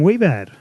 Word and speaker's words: Wiebad: David and Robert from we bad if I pronounced that correctly that's great it is correct that is correct well I've had all